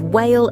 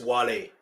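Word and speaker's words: Wale: This is the end before teaming up with Whale and Eminem for the Monster, another chart smashing. Uh, they mispronounced his name. It's Wle by the way. It's Wle and he's Nigerian, just so you know.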